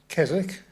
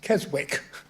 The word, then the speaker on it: Keswick: always get it right so we know it as kzk but they all know it as Keswick in Canada and Until you realize